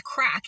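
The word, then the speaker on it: craic: a bit of the crack which is just it's spelled C R A I C and I would have called it crack but it's crack and it's just like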